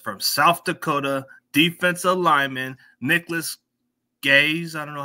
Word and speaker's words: Nicholas Gaes: my special guest from South Dakota defensive lineman Nicholas gays I don't know how you pronounce it did I pronounce it right you